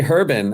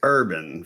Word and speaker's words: Herban: A lot of people say Herban, and I'm like, No, it's urban, folks.